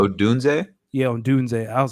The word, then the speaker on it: Odunze: I always butcher Romain Odunze's last name. Odunze?